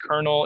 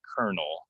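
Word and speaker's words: colonel: think this is the last word this is pronounced kernel it's a you know very high rank in the military kernel kernel so if you see this word kernel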